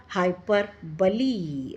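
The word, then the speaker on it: hyperbole: हाइपरबली। Okay, हाइपरबली, BOLE, इसके pronunciation बली ही है।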